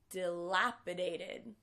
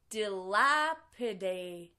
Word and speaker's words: dilapidated: we say this word delapidated another interesting thing that happens with this word is that the T in the last syllable Ted becomes a D sound because it's between two vowels delapidated excellent and this means